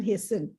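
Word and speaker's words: hasten: यस, कैन हेस्टन, T silent है उसमें, कैन हेस्टन our development and progress to unimaginable levels.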